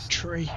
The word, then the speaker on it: three: tree five not 35 35 let's get our engine